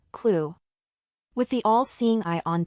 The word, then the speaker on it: KLEW: KLEW, which can be pronounced as the word, clue.